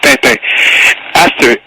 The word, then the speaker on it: Tintin: It's not Tintin, it's Tintin.